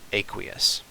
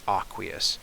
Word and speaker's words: aqueous: chapter, that means aqueous, which some people pronounce aqueous, but I'm pretty sure aqueous is the correct way to pronounce it. But I won't hold it against you if you want to call it aqueous.